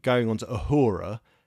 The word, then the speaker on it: Uhura: And what I really like, going on to Uhura... Did I call it Uhuru? You called her Uhuru. So, never mind. Sorry. Rhymes with the yazoo. Yoo-hoo glue. Well, you very politely corrected me. With just Uhura.